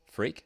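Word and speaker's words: Freke: his same score goal pronounced freak unfortunately it is freak macklin freak macklin freak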